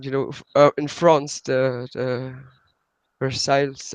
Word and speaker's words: Versailles: know in France that Versailles I don't know how to proceed English there's also this new pronounced in French this bear sang okay there's this monk